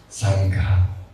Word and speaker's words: Sangha: Sangha. GH. Sangha. Not Sangha. Sangha.